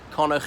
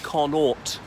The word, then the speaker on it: Connaught: 29 Conor Square London Conor it's not Connaught as some sass enough pronounce it is Conor as in the western province of Ireland anyway this is the